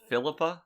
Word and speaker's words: Philippa: Philippa? Like, I get it, Philip, feminine version. Philippa? Yeah, that's her name. That's how it's pronounced. Yeah, that's how Patrick says it anyway.